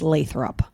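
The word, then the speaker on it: Lathrup: It's not Lathrop, it's Lathrop.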